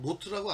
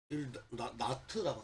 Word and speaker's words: knots: 발음이 좀 약간 노트라고 안 그러고 나트라고 그러고.